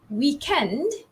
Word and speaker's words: weekend: favorite word it's w-e-e-k-e-n-d we have of course the british english version which is the stress falls on the second syllable that means it's week end so it's weekend weekend right end and then american english it's weekend weekend okay let's do that again british english weekend american english weekend so it's like that